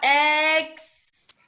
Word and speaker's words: exhaust: me and shorted out eggs and then there's a there's a silly H here you don't really hear it when you stretch it out but it's cut it's a silent H eggs oh and it